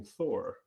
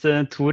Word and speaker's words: Tor: talking with him, that he does not pronounce his name Thor, which, as any studious American being taught Norwegian pronunciation by Marvel, I called him Thor for a long time. But he says his name somewhat differently.